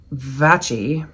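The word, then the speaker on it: VACI: Vachi, V a CI. Vitally absorbing creative interest. We pronounce it vouchi because we've decided it's Latin, I guess.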